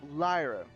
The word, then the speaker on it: Lyra: Lyra lies as in to lie down. Oh, Lyra.